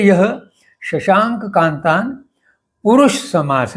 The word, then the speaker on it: शशांक: इसलिए मैंने शशांक ये संस्कृत शब्द को कंस में शशांक शा पे बिंदी देकर बताया है, जिससे उच्चारण स्पष्ट हो जाए।